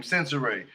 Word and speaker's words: Sensoray: She said that's how you say her name, Sensoray.